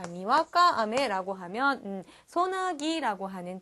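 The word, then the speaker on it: あめ: 자, 일본어로 비라고 하는 비, 우리 하늘에서 내리는 비에 해당되는 그러한 단어인데, 자, 발음을 조심을 해야 돼요. 왜냐하면 제가 지금 읽을 때 아메라고 읽었는데요. 이 표현이 예를 들어서 아메라고 해서 뒤에 액센트가 갈 경우에는 자, 하늘에서 내리는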